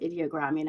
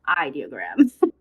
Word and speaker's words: Ideogram: And so for me, I love Flux and well, actually, it's not pronounced ideogram. I've been saying that wrong for so long. It's ideogram. So I love them. I know we don't have ideogram in Straico.